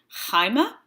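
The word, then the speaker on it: αἷμα: um and in Greek the rough breathing is placed over a vowel to indicate the H sound does we have the Greek word blood Hyma if you look closely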